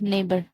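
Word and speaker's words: neighbour: हैं फिर सेकंड है जब ई आई का साउंड ए करता है जैसे कि वेग नेबर इसमें ई आई का साउंड क्या आ रहा है ए वेग ए नेबर ए वेन ए तो ऐसी कंडीशन में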